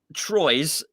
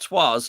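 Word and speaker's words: Troyes: house he is um he's from troy's um which i think they pronounced twas which is quite ironic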